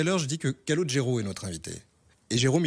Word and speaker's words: Calogero: album les gens disaient Colagero Caligro Calimero. Ils ont fini par y arriver et mais en la vraie prononciation en sicilien c'est l'accentonique. Il est sur le lot Callodge alors.